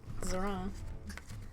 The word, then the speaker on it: Zorana: And I'm pronouncing that right? It is Yeah, pronounced that's Zorana? actually very correct, Zorana.